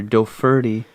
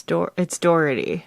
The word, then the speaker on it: Dougherty: How would you pronounce his name? Dougherty? Dougherty. Oh, it's good you went first. I was gonna say, like, Dougherty or Doferty. It's Dougherty.